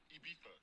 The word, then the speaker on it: Ibiza: Ibiza. Yeah, it's pronounced Ibiza, actually.